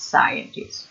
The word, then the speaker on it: scientists: you write the person it's scientists yeah scientists which is a stressed syllable the first one then you have to